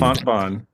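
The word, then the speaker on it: Fontbonne: Fontbon.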